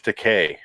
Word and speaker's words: Takei: i appreciate that abundance his name is george takei because it rhymes with gay that's what he said